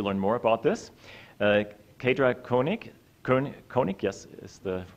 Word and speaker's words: Koenig: Faydra Koenig, yes, is the, I always have to make sure I'm not pronouncing it the German way.